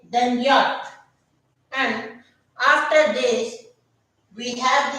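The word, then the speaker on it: Jot: Now the next letter is this, and we pronounce this letter as yacht. We pronounce this letter as yacht.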